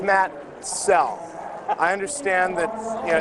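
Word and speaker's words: Soell: Well, Makoto, it's spelled S O E L L. And it's pronounced cell.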